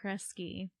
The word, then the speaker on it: Kresge: me bye okay so kesy Sebastian spearing kesy spelled with a G even that sounds like a c uh was an American